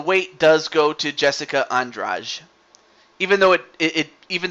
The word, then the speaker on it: Andrade: does go to Jessica andrage even though it it even though it is spelled Andrade but it's andrage I don't know why but it's that's what it's that's how you pronounce it no unfortunately she